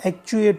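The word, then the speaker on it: actuate: फिर है एक और वर्ड है जिसका मीनिंग शुरू करना है, परंतु ध्यान दीजिएगा इसका प्रोनाउंसिएशन जो है वो क्या होता है, एक्चुएट होता है.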